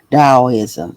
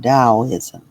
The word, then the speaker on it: Daoism: Dao. Daoism. That's how you pronounce it. Dowoism. So, let me go back to it. Dowoism.